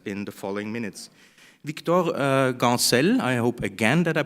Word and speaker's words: Gancel: My name is Victor Gancel, and this was well pronounced.